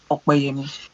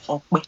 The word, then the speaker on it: Opeyemi: My name is Opeyemi, and I'll prefer you call me Opeyemi. Okay. And if you cannot pronounce that, just say Ope.